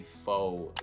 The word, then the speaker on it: faux: And honestly, the only word I can think of right now is faux. You probably see it on the screen right now and it's very confusing. Well, it's not English, at least that's what I think.